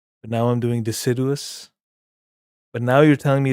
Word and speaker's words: deciduous: Deciduous.